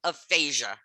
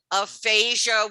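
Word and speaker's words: aphagia: So you can see how one little letter smack in the middle of a word, and both words sound exactly the same.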